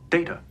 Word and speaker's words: Data: Data data my name is pronounced data.